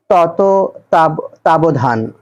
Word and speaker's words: তত্ত্বাবধান: এটি হল নেতিবাচক বাক্য তত্ত্বাবধান শব্দের সঠিক উচ্চারণ কোনটি এর সঠিক উচ্চারণ তত তাবধান মুক্তিযুদ্ধ ভিত্তিক উপন্যাস নয়